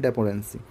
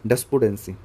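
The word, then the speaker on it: despondency: Next word की तरफ move करते हैं, डेपोडेंसी, ओके, डेस्पोडेंसी, सॉरी पहले प्रोनाउंसिएशन गलत हो गया था।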